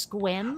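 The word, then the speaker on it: Sequim: place that looks like sec wium but it's pronounced squint oh yes I lived here for a while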